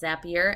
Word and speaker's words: Zapier: to be using zapier and i know it's pronounced zapier and i'm going to say zaps not zapes but i just like zapier better so i am looking for any time